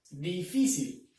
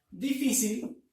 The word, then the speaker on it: difícil: tenemos la palabra difícil difícil donde lleva la mayor fuerza de voz en la penúltima sílaba entonces la última la